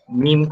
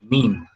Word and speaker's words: meme: So he even wrote in his book that it should be read in a rhyme of cream.